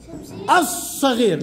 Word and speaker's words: الصغير: الصغير لماذا هي لام شمسية؟ تنطق أم لا تنطق؟ لا تنطق. والصاد عليها شدة. عليها شدة. والصاد من حروف اللام الشمسية. أي نطقنا على طول على أص، ما قلنا أي.